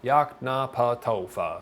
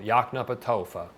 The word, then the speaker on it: Yoknapatawpha: It's phonetic pronunciation. It's not that hard to pronounce, really. You can do it, I swear. Yoknapatawpha. That toe might be a little bit difficult. Yoknapatawpha.